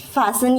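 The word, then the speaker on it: fasten: आता है कि please फैसन your seat belt. अपना सीट बेल्ट बांधिए। तो उसको बोला जाता है फासन। ठीक है? तो इसमें जो टी है वो साइलेंट है।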